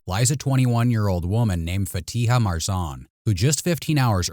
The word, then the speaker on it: Fatiha: Can you pronounce your name for me? Fatiha. Fatiha.